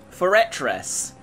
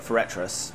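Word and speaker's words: Forretress: Foretress. Totally. I think that's how we used to call it, Foretress, when we were younger. Because that's how it's spelled, honestly.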